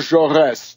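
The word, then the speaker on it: Jaurès: assassination of the great French socialist leader Jean jores j a r e s with a little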